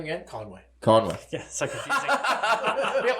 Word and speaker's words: Conway: Conway.